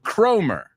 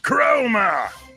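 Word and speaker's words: Cromer: that was written by Lord chromer Lord chroma I'm sorry I should say it correctly Lord chroma and this was published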